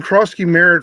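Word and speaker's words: Croskey-Merritt: How do you spell the Is it cross key? It's cross key, right? Yeah. Yeah. Okay. Yeah. Yeah, they're saying Krosky Merritt for Washington as oppos Well, Dylan Samson plays Baltimore.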